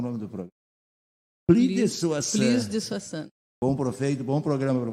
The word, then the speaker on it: Soixante: Tem um sibiladinho do S. No S tem. É plus de Soissons.